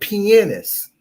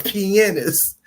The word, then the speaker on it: pianist: from a classically trained pianist that's how you say it it's almost like saying penis but it's pianist classically trained pianist zaytoven